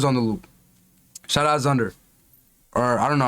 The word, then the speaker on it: Xundr: Shout out Zunder. Or, I don't know how to pronounce it. Yeah, Zunder, that's how I pronounce it.